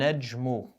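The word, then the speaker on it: النجم: gone tanween is gone and nejmu no l sound that'll give you a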